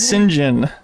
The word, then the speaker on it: St. John: Turns out that the name St. John has traditionally been pronounced as Sinjin by aristocratic and upper-class British circles.